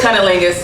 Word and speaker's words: cunnilingus: It is cunnilingus.